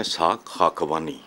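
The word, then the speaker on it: اسحاق حقانی: पहली बात तो ये है कि आपने ठीक उनका नाम नहीं प्रोनाउंस किया है, इसहाक हक्कानी।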